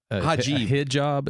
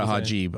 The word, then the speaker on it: hijab: No, he likes to call it the cuz I think is it hijab is what I call it a hajib. I switched the he mispronounces. Oh yeah. Yeah, I know. Hijab.